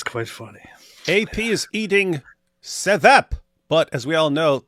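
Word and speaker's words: ćevap: AP is eating sevap, but as we all know, these letters have different sounds, and I think the V isn't. I think the V is pronounced R, so it's karap. No, it's actually chivap.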